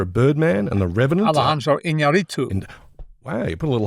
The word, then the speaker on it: Alejandro Iñárritu: Alejandro Iñárritu.